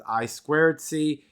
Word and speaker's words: I2C: So it's written I2C. It's pronounced by engineers as I2C.